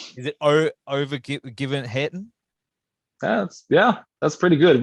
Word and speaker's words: Övergivenheten: wrong is it oh over given hatton that's yeah that's pretty good we actually the g is pronounced uh like a g so over you even had them okay over a year